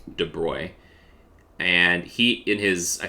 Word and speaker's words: de Broglie: in france i believe his name looks like de broglie but i believe it's pronounced de bruy and he in his